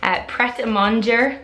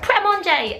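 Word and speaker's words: Prêt-à-Manger: Pret-a-Manger is how I pronounce that, but I always hear all the English people go, Pret-a-Manger, and I think it's so funny.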